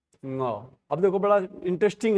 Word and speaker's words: ङ: तो इसका उच्चारण है क ख ग घ ङ। क्या है? क ख ग घ ङ, ङ बोलते हैं इसको।